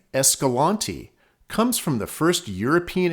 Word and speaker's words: Escalante: Escalante itself is usually pronounced the way I'm saying it. However, some people, mainly locals, pronounce it Escalante or Escalante, with emphasis on the A. The actual town of Escalante, which is located inside